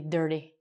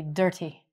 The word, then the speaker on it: dirty: And just make sure you say dirty, because no one's going to understand you if you say dirty.